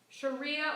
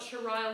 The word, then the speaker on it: sharia: what kind of law sharia or shariah law okay i've heard it pronounced both ways we're going to call it shariah law who can define for